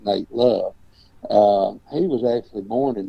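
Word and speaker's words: Nat Love: name is spelled N-A-T, but it's Nate Love.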